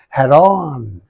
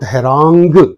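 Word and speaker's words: harangue: aggressive speech is called Haron haran heran okay please uh you you pronounce this word for several times and it will be recorded in your mind and whenever you want to use it you can easily use it Heron right not herang okay right come on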